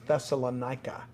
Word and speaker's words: Thessalonica: city was pronounced it's a greek city it's pronounced thessalonica and you know it's still here today really